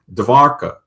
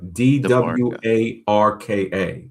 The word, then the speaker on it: Dwarka: Uh Dwarka, d w a r k a. Cuz, you know, they pronounce the w as a v.